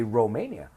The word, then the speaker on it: Romania: is Chilean someone from Romania with an O in English in Spanish is Romania right we say Romania they are Romanian someone